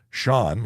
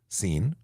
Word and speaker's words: Sean: some very interesting pronunciations Sean like Sean Connery the legend should be easy however I get CN I get seen um yeah what else